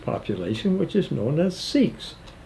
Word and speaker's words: Sikh: which is known as sikhs s-i-k-h and they pronounce it sick derived from the sanskrit